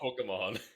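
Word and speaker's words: Pokémon: do it don't stop pokemon yeah it's pocket monster so there's an e there not an eye and he says like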